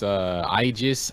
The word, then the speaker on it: Aegis: It's Aegis, Idris, Ikilla.